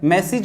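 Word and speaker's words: message: क्या बताया था कि ईज, AGE से अगर इज की साउंड निकलती है तो इस तरीके से इज होगा, ई बड़ी नहीं आएगी।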